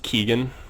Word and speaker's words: Keegan: that goes down um and is pronounced Keegan for those that are unfamiliar I've been calling him Kagan forever in a day but oh well um